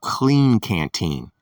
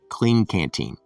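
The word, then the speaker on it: Klean Kanteen: is a brand called clean canteen and it's spelled with the k k-l-e-a-n and k-a-n-t-e-e-n clean canteen and the one you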